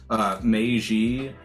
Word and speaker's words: Meiji: So real quick note on the pronunciation, because Nick was asking. Meiji, Meiji, right?